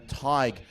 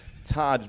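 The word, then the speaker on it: Tadhg: I was saying Tig at previous regattas, but believe the official verdict is Taj Bailey, so hopefully now that is correct.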